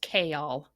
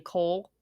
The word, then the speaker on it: Chaol: girl then we have it's spelled c-h-a-o-l it's pronounced kale k-all not kale kale the entire time i was saying coal so that's probably what i'm going to call